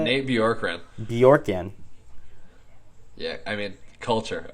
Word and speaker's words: Bjorkgren: But on the other hand, a coach that I really stood out to me was Nate Borgen. Is that how you say it? Nate Bjorkgren.